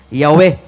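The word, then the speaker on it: Yahweh: man ko sa encyclopedia the true pronunciation of the name yh wh was never lost several several early greek writers of the christian church testify that the name was pronounced yahwe sa wa pa ni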